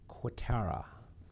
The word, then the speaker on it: Cuetara: I'm here with my guest poet, psychologist, John Cuetara. Is that pronounced right, John?